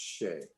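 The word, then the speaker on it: sidhe: spelled s-i-d-h-e uh for shea shea so it's pronounced not how it looks but it's pronounced shay and oh yeah it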